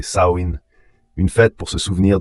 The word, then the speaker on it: Samhain: Les Selt appelaient ce festival Samein prononcé Saoin.